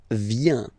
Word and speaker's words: viens: First form, je viens. Final S not pronounced. Je viens. Remember, I-E-N, ien, ien. Je viens.